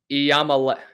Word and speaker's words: Iamaleava: Nico Iamaleava, I hope I said that right. I know you guys have been giving me crap in the comments for how I say his name. Iamaleava.